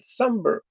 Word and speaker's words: somber: And somber has two syllables. Which syllable has all of the sound? Where's the accent? Some. Somber, somber.